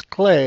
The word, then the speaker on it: Klei: clay corporation's people and that's how you pronounce klei is Clay it's a Dutch company but this is all